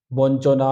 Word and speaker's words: বঞ্চনা: আরেকবার রিপিট করে দিই ইওর পরে যদি চ বা ছ বা বর্গীয় জ বা ঝ থাকে তাহলে ইয়র জায়গায় দন্তন্য উচ্চারিত হবে বঞ্চনা লাঞ্ছনা গঞ্জনা ঝনঝাট অর্থাৎ